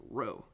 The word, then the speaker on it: rho: the symbol for density it's pronounced rho so how we're going